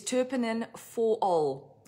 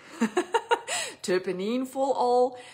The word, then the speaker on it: Terpinen-4-ol: differently by different people the way i say it is terpenin for all turpinene for all there are many synonyms there are many ways that people say it um so there